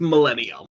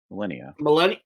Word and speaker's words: Millennia: She goes with Millennium. Like the Millennium. flower. No, Millennia, like the flower. Millennia. Millennium? Hang on, let me look up the flower. I need the pronunciation or it's gonna bother me. This is fair. Yeah. He's very fair. Millennia, that's what it is.